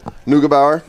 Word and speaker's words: Neugebauer: Neugebauer?